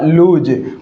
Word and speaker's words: lose: और ये जो वर्ड है हमारे सामने LOSE, इसका उच्चारण भी क्या होगा, लूज, और इसका मीनिंग क्या होता है, टू मिसप्लेस यानी कि खोना, या फेल टू विन यानी यानी फेल होना।